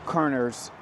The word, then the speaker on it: Körner: And so, can you the certain the name Kerner's first off, let me let me say, am I saying it right? Right. Ker.